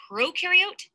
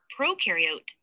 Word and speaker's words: prokaryote: Prokaryote, the pro rhymes with no, and they have no nucleus, which holds the genetic material and controls the cell's activities.